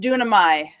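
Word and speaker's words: δύναμαι: word that is pronounced dunamai, and it means power. And if you don't have to remember that it's dunamai or even know how to spell it, just remember it as Duracell.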